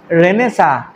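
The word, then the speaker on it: Renaissance: এবার দেখো নবজাগরণ রেনেসা উচ্চারণটা কি রেনেসা, কিন্তু সবাই বানান ভুল করে, ওই জন্য আমি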